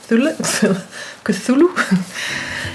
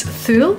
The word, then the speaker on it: Thule: And I will probably not pronounce this name correctly, but it's a Cthulhu. It's Thule.